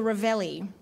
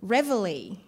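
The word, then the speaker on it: reveille: heard the next sound which i always thought was the ravelli but it's actually revelly i know it sounds like it's just a bit of a play on words but it's actually a french word from lay reveal and it's a bugle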